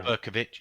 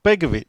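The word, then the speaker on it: Begović: Is it Berkovic? Not Berkovic. Say that again? No, I'm not going to say it again. It begins with a B. Begovic? No, what was the question? Begovic. Oh, Begovic. Begovic, that's it.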